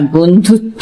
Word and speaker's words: বন্ধুত্ব: আর বন্ধুত্ব মানে ফ্রেন্ডশিপ, ন ব নয় ধয় হস্যু তয় বয়, এই বটার কোনো উচ্চারণ নেই আমাদের, কিন্তু ত বলছি, বন্ধুত্ব।